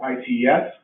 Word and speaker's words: ICES: So phonetically, people are pronouncing this ITES.